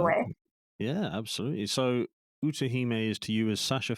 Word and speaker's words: Utahime: Well, it's not after me, but like it's Utahime.